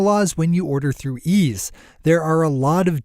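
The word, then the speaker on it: Eaze: You know you're always fully in compliance with state marijuana laws when you order through Ease.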